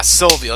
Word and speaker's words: Sylvio: Yuya gone and yeah that is Sylvio yeah Sylvio that's how you say his name damn mom I'm getting